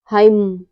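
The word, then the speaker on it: hymn: कब साइलेंट रहता है यदि किसी वर्ड में एम और एन दोनों साथ में आए तो एन हमेशा साइलेंट रहता है लेटर एम लेटर एम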